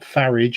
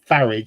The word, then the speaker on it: Farage: It's like a certain politician, you know, it's not Farage, it's not Farage, it's Farage, because you don't say garage, it's garage.